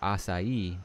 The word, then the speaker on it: acai: Let's see, we have and I've apparently been pronouncing this wrong for like 20 years, never even knew it. I've always called it the acai berry. I don't know, but it's acai berry, which is interesting.